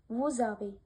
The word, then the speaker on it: vous avez: According to this rule, when the following word starts with a vowel, then the first word's final consonant is pronounced. For example, lez-ami, vous avez.